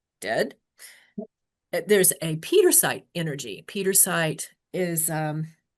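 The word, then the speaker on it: Pietersite: So Petersite it's how do we spell this? P I E T E R S I T E. It's P I E. Peter, but it's pronounced Peter site.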